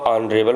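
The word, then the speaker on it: honourable: Next है ही इज़ अ ऑनरेबल मैन। तो यहाँ पे एच साइलेंट होता है। ऑनरेबल, हम ऑनरेबल, तो अ क्या है?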